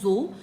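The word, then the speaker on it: dzo: This is pronounced as जो एंड इट इज a cross breed between yak एंड काउ।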